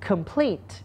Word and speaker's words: Complete: คุณ ครู สอน ไป Complete เรา จะ stress หรือ เสียง หนัก คือ ข้าง หลัง นะ ครับ Complete คำ ว่า Complete